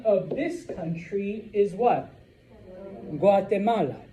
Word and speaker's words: Guatemala: or a U, okay, it is literally the same G that you and I use. G, G, G. All right? So, the name of this country is what? Guatemala. G, Guatemala.